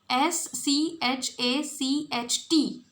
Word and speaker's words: Schacht: Hjalmar, Schacht. It is Schacht. Hjalmar Schacht. So, Hitler was advised on economic growth by Germany's Minister of Economics, Hjalmar Schacht.